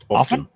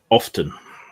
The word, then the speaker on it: often: Often. Say it how again? Often and t-shirt. Often. Often. There is a T in it. There is. But there isn't. Nobody pronounces it that way.